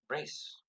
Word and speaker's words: Rhys: Hi, Rhys.